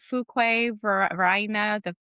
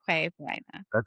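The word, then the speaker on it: Fuquay-Varina: with pronunciations. Like there's little city, it's like I still don't say it right. Fuquay, Verina, or it was like Fuquay.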